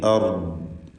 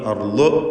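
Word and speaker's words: أرض: ദ്വാദിൽ സുക്കൂൻ നൽകി അർദ് എന്ന് വഖഫ് ചെയ്യുക. അർള് എന്നൊന്നും വായിപ്പരുത്. നാവിൻ്റെ സൈഡ് ഒരു നീളത്തിൽ മേലെ ഹണപ്പല്ല് ചേർത്താണ് ദ്വാദ് ഉച്ചരിക്കേണ്ടത്. അർദ്.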